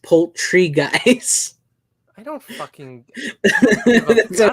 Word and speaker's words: Poultrygeist: Not Poltergeist. Poultrygeist.